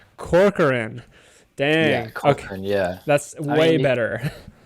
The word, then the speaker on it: Corcoran: guest and then correct correct me on the pronunciation of your last name is it Corcoran uh Corcoran Corcoran damn yeah that's way better I've heard some